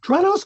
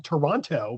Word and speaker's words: Toronto: You pronounced Toronto correctly. Oh, thank you. A lot of people You did not pronounce the T, which is a lot of people say, "How is it in Toronto?"